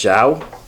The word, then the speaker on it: João: go- It's the A-O with the little sign on the top. Yeah. It's João.